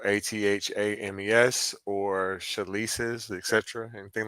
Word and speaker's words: athame: Like it's pronounced, I mean spelled ATHAMES or chalices, etc.